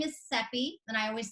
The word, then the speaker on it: Cepee: My name is Cepee, and I always say Cepee rhymes with Peppy.